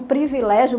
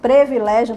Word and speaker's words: privilégio: aceitar aqui são inúmeros muitas pessoas até hoje ainda pronuncia um privilégio por exemplo previlégio por exemplo em vez de Privilégio vários equívocos várias pessoas